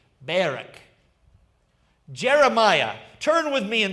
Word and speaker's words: Barak: Some people will say Barak, but it's actually it's a different pronunciation. Barak.